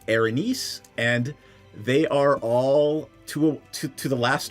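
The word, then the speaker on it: Erinyes: Uh the proper pronunciation is Arines and they are all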